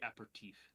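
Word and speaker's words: apéritif: It's technically aperitif.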